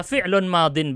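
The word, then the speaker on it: فِعْلٌ مَاضٍ: Saya mungkin ingin ingatkan antum pengucapan fi'il madhi yang benar bisa fi'lun madin begini kalau nakirah, kalau ma'rifah al fi'lul madhi pakai ya. Kalau nakirah tidak pakai ya. Ya-nya diganti dengan kasrah tanwin, madin.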